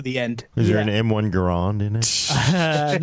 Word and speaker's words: M1 Garand: Is there an M1 Garand in it? No, it's actually M1 Garand. Is the proper way to pronounce his name.